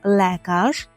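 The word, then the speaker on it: lekarz: про медперсонал і тут нам треба згадати слово лекаж лекаш - це лікар при вимові Зверніть увагу на буквосполучення ле яке ми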